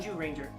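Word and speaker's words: Zyuranger: The Sentai version of Mighty Morphin Power Rangers is called Kyoryo Sentai Jew Ranger, Spelled with a Z. but it's pronounced Jew Ranger.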